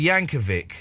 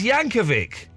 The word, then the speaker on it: Yankovic: find the audio of him saying it's Weirdowl Yankeeic. Well, what he doesn't know how how he's called. No, but it's weird how says Yanovvic.